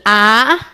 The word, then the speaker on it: Allah: A-L-L-A-H. Dibaca Allah.